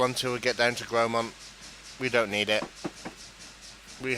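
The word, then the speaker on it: Grosmont: Gromont, pronounced Gromont, was once a hive of industry, but it's now a peaceful village huddled in the Esk Valley.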